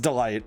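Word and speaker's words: DeLite: Pronounced Delight.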